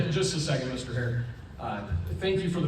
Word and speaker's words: Her: My last name is pronounced hair spelled H E R.